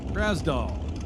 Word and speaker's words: Grasdale: Well, apparently I've been saying Dale's name wrong for years. Grasdale. I will do my best to remember that.